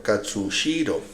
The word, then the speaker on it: Katsushiro: que me cuesta pronunciarlo katsushiro eso porque hay una sh este chico será eh